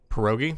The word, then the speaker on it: pierogi: North Shore potato and cheese filled I can't pronounce the word P i er o GI pierogi pierogi thank you which are the busy they're